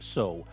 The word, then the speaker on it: sew: They think, "Why is it spelled s e w but pronounced so?"